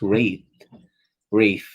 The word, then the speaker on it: Rathe: Okay, there is I pronounce it as Wraith because people pronounce it as Wrath, Rathe, Wrath. It's But when I watched the interview of James White, he uh pronounces the Wraith at Wraith.